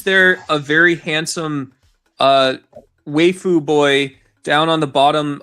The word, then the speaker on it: waifu: Yeah, it's pronounced waifu.